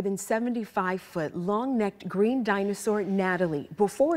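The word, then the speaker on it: Gnatalie: We're getting a behind-the-scenes look at the more than 75-foot long-necked green dinosaur Natalie before it's open to the public. Natalie spelled with a G because of the stinging gnats that pestered excavators.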